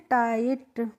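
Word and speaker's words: tight: आई जी एस टी तो इसको हम पढ़ते हैं टाइट इसको टिकट करके नहीं पढ़ते हैं क्योंकि जो आई जी एस टी होता है कभी भी किसी भी वर्ड में आता है तो इसका प्रोनाउंस होता है आइट करके ठीक है जैसे ब्राइट टाइट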